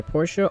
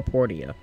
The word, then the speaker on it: Portia: properly pronounce something because it's either porsche or porteo it's probably porsha makes more sense so he gave me